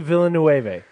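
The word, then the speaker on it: Villeneuve: So, it's Deni Villain Noe. Yes. Villainu.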